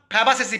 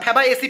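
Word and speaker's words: Fabaceae: তাহলে যদি পরীক্ষায় তোমরা পড়ে গেছো যে দাদা প্রশ্নটা দিয়েছিল মিমোসইডি, ওখানে অপশানে গিয়ে আর মিমোসইডি পাচ্ছ না, ফ্যাবাসেসি পেয়েছো, ঠিক আছে, ফ্যাবাএসি পেয়েছো, সরি ভুল বললাম প্রোনাউন্সিয়েশনটা।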